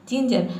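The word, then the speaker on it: ginger: पढ़ेंगे सिंगल हो जाए जिंजर अब देखिए यहां पे एक वर्ड है जिसमें हम इंज पढ़ते हैं जैसे आई एन जीी को हम इंज पढ़ते हैं जिंजर में ठीक है इसको आपको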